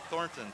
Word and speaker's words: Thornton: Oh, Zach Thornton, Thornton.